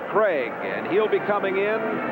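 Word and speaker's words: Krieg: problem there is Young Dave Craig k-r-i-e-g but pronounced Craig and he'll be coming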